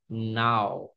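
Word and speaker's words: now: সো দুইটা উচ্চারণ হচ্ছে, একটা হচ্ছে নো, নো, আর একটা উচ্চারণ হচ্ছে নাও, নাও, নাও, নাও, এখন।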